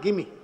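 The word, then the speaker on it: Gimi: बहुत बार कहते थे मेरी स्पेलिंग जो है उसके कारण लोगों को गलतफहमी होती है मेरा नाम है जी आई एम आई और वह लोग जो है उसको जिमी पढ़ते हैं और व कहते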